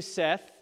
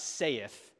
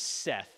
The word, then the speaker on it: saith: every one of you Seth and let me pause that's the correct pronunciation of that word it's not saith it's Seth just like you would say said you don't say say